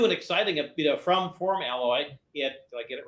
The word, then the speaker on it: FormAlloy: is the the proper pronunciation so the proper pronunciation is form alloy because that's what we're doing but it rolls off the tongue for Maloy so you know we kind of answer to